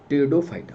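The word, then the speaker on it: Pteridophyta: से एक होता है टीरिडो, पी साइलेंट होता है, टीरिडो फाइटा।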